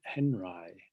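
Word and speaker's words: Henri: artist called robert uh well he pronounced it henry robert henry um from 1923 an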